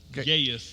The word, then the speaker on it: Gaius: but they were saying that, what's his name, Gaius? Gaius is how you pronounce it.